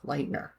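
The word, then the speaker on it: Leutner: talk about next mhm Payton Lightner and that is spelled a l u t n e r uhuh uhuh Lightner and Morgan geyser became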